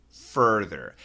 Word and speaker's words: further: And he says, please help me distinguish these two words, the pronunciation. Farther and further.